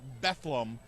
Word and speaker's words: Bethlehem: They pronounce it Bethlehem.